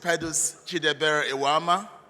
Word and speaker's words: Pedus Eweama: Bobby did not pronounce my name well. CONAPA will find him for that. My name is Pedus Eweama, and I happen to